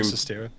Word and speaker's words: Sestero: your experience with this, like with what Greg Sestero, is that how you say his name? Of the Room. Sestero.